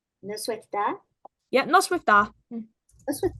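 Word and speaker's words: Noswaith dda: And then good evening is Noswaith da, which is Noswaith. And da is spelt with two D's, so it's DDA. No sweat da?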